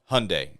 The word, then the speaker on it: Hyundai: Now, Hyundai also has that technology, self-park.